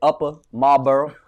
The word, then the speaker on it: Upper Marlboro: Upper Marlboro. Gotta pronounce it right while I'm home.